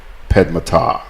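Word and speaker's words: passe-temps: or purred long temps that's pronounced here in Grenada Padma tah okay hey guess what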